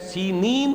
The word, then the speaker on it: سینین: صحرائے سینا، یہ ہے، سینین اس کا تلفظ ہے، یہ جمع کا صیغہ آیا ہے، اور عبرانی میں اس کو سینین کہتے ہیں۔ عربی زبان میں یہ